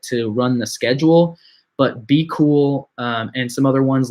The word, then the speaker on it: BQool: So other than that, I would recommend looking into Be Cool. That's spelled BQOOL.